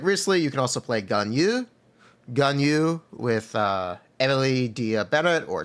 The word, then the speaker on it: Ganyu: Why am I pronouncing Ganyu like that? Because that's her name. There's like a enunciation at the end of her name. It's like Ganyu in Chinese.